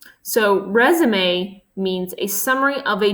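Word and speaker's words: résumé: is you the text resume is a noun that comes from French and is pronounced differently as a French word would be so resume means a summary of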